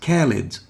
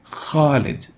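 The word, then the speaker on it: خالد: khalid means eternal and if you replace the kha with a calf you might mistakenly pronounce it as khalid but khalid with a k is wrong the proper way to pronounce it in arabic is khalid not ka so for those who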